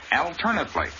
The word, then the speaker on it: alternately: on the first syllable in the adverb form of the same word the accent is on the second syllable alternately but the a is still short number seven in order